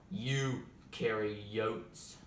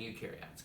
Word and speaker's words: eukaryotes: have prokaryotes eukaryotes and no it is not pronounced pro carry use or you carry yachts or who carry boats is pronounced prokaryotes and eukaryotes come on camera guys say it with me